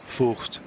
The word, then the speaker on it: Vogt: It's the same with Jens Vogt and Voigt. It's Vogt. Yeah. Yep. Is apparently how you pronounce it, according to the Yenzi himself.